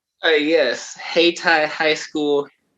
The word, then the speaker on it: Hayti: correctly right uh yes hey thai high school hey thai high school i originally wanted to say haiti but uh i'm glad